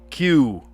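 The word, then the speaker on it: queue: Let's do the the down word pronounced like its first letter which is followed by four vowels. This word drives me absolutely bonkers. Q Q U E U E Q Q.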